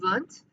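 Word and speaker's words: Wundt: birth of modern psychology a man named wilhelm vunt actually created a modern laboratory and was studying things related to psychology it is pronounced vunt and you can you can impress a lot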